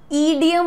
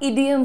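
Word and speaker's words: idiom: वाला, अच्छा एक चीज, ईडियम ना बोलिएगा, इडियम होता है। द प्रोनाउंसिएशन इज छोटी ई, जैसे इडली बोलते हो, ईडली तो नहीं बोलते, राइट, इडली, वैसे ही इडियम, इडियम आपको बोलना है, ठीक है।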